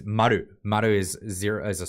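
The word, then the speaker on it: 丸: And now, and the way you pronounce that is maru.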